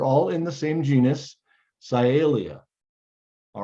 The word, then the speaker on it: Cyalia: And they're all in the same genus, Cyalia. All right, so it's pronounced Cyalia.